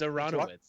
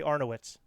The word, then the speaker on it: Aranowitz: It's Aranowitz, right? It's It's Aranowitz. Yeah. I always say Arnowitz.